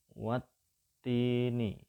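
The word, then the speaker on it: وَالتِّينِ: Pada ayat yang pertama ini, kalau diperhatikan, huruf ta itu ada tasdid. Itu artinya kalau kita membacanya langsung disambungkan, langsung nyaut ke huruf ta, ya. Wattini, ya.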